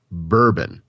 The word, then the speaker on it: Burbn: Instagram was a confusing mobile app called Bourbon. Sounds like a drink to me. Yeah, nobody was using it. It's spelled Burbn.